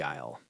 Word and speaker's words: aisle: I learned about the dairy aisle. Remember the pronunciation. Aisle sounds like aisle.